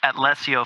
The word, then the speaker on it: Atlesio: So we are the Atlesio family, is basically how I've been pronouncing it, and we're a multicultural mafia-themed DAC.